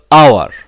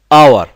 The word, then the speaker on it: hour: last for an hour notice the transition of the word our our okay so this letter here the letter H is not pronounced it is not pronounced